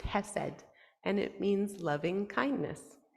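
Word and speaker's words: חֶסֶד: at drawing it um it's spelled chessed but it's pronounced hessed and it means loving kindness I don't know where this so Ruth offers an understanding of the Torah um so H said loving kindness means to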